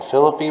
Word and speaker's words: Philippi: Kind of looks like Philippi or Philippi, yeah. Well, West Virginia is called Philippi. Okay. And a lot of people pronounce it Philippi. It could be pronounced either way.